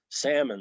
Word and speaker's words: salmon: cluster will be silent salmon that's silent xmit to send out